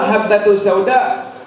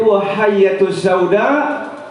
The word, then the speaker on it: habbatus sauda: Tapi ini orang tidak belajar, sehingga habbatus sauda dibacanya titik hayatus sauda syifa'un min kulli da'.